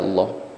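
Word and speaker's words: الله: adalah Lemah atau fathah maka sifat bunyi lam pada lafadz Allah menebal tafkhim dibaca Allah berikut ini contoh ya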